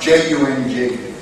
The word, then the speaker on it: Jung: There was a guy called Carl Jung, J-U-N-G. Pronounced with an Irish accent, it's Carl Jung.